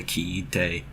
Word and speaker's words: kiite: Kiku ends up ending in ite, so from kiku to kiite. And it makes a long vowel sound, so it's different than kuru becoming kite.